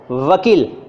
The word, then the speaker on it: वकील: अब हम बोलेंगे व, वकील, ऊपर का होंठ खुला हुआ है, नीचे के होंठ को दांत ने दबाया, वकील वकील। दंतोष्ठ, ये कहलाता है दंतोष्ठ अक्षर, साउंड अक्षर, वकील।